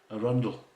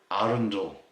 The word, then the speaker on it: Arundel: if i remember right here arundel that's basically how it should be pronounced arendelle is what a lot of people say but let me say it's actually arundel going by agent and